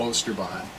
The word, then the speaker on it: Oosterbaan: b a a n just in case you don't know how to stall ooster Bond so but check his